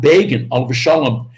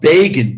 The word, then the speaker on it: Begin: because uh they wrote begin b-e-g-i-n rhymes with fagin and fagin of course